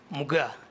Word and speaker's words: Muuga: How do you pronounce the last name? Muga or Muga? Muga. Muga. M-U-G-A-A. Muga.